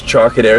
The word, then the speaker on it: Trocadero: This place, Trocadero, is that how you say it?